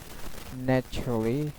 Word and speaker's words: naturally: Naturally, cha sound. So previously I said that the cha sound is most of the time used in British pronunciation. So try to learn that at first. So naturally, cha, naturally. Okay.